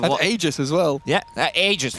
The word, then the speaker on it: Aegis: There was a time when we had to be told by Ice Frog how to pronounce Roshan because people, there was a patch and and Aegis as well. Yeah, Aegis, not Roshan.